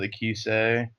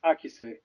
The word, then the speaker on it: Akise: just Akis would be the Western pronunciation, while the Japanese, the Eastern pronunciation would be Akise.